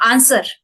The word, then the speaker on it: answer: which we consume okay one more can you pronounce that answer answer answer no answer V should be silent there V you don't